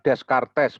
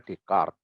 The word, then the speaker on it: Descartes: Rini dekat yang bacanya Rene di chord bukan Descartes bacaan tulisannya Descartes Tapi bacanya dicat jarene dekat ya dia